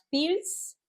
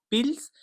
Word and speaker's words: Pils: Wie Pilzbier, Pils. Es ist wie Pilzbier.